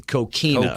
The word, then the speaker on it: coquina: I even did a cocaine of mine one time over and flagler make sure you get that pronounced correctly coquina key now just want